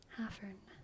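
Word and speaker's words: hæfern: It's an F, not a V. Hafern, hafern. And it's spelled with an ash, which is the A that connects to the E, which is pronounced like a short A in English. The same way we say crab and bad and apple.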